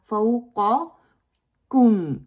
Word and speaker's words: فوقکم: فوقکم، this common mistake ہم بناتے ہیں. فوقکم، قاف کے مخرج پہ رہتے ہیں، کاف کے مخرج پہ آگے آتے ہی نہیں ہیں. کم فوقکم. سو کلیئر بنائیں دونوں کے ساؤنڈ کو. When pronouncing, avoid mixing it with قاف or English G.